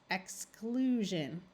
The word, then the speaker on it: exclusion: and pronounce them correctly remembering that the SI in these words because it is taking the place of a d or an SE is going to take on the voiced J sound all right we have